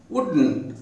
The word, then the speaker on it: wouldn't: affirmative இது நேர்மறை would, negative எதிர்மறை would not wouldn't உச்சரிப்பு wouldn't 2 syllable wouldn't.